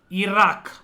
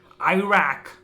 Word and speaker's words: Iraq: Next, Iraq, or as the Americans would pronounce it, Iraq.